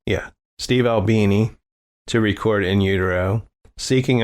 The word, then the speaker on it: Albini: Steve Al Al how do you say ALB Albini yeah Steve Albini to record in Udo seeking a more complex